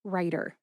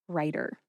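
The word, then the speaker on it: Reiter: Mark Ryder is your contact person. That's Mark Writer. R E I T E R Writer.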